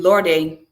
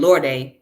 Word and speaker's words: Lorde: This is something that she wrote, that Audre Lorde wrote. I keep saying Lorde because that's how it's pronounced in the foreign name, but it's Lord.